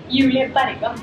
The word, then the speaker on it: Julie Bergan: We have Julie Bergan. How do you pronounce it in Norwegian? Julie Bergan.